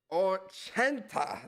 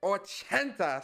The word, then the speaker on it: ochenta: Ochenta. That's how you say it? 80, Ochenta.